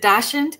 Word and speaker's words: dachshund: She is sharing, I always say this, is it dachshund? Is that the right way to pronounce it?